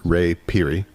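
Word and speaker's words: Ray Phiri: Yeah, so how to pronounce his name is an interesting thing, because the way that Paul Simon says his name is Ray Peary.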